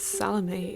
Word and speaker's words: Salomé: I also take issue with pronouncing it like salami, but that's really neither here nor there. A few films feature Salome as a play within